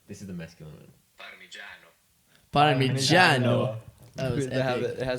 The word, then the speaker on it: Parmigiano: Parmigiano.